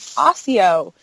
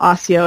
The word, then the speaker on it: Accio: I read the books I always said you know Accio in my head but I think in the movies I think in the movies they do pronounce it Akio well it is the